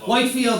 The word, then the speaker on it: Whitefield: Yeah, Whitefield is Yeah, Whitefield is how it's usually uh is how it's spelled and pronounced.